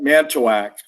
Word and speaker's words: Manitowoc: I call it Manitowoc. I don't put it in the third syllable. I don't put it in the third syllable. And Calumet. Manitowoc.